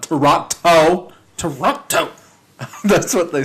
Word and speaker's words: Toronto: And whoever I believe they pronounce they don't hit that T at the end though when they say it's just Toronto. Toronto. Not Toronto.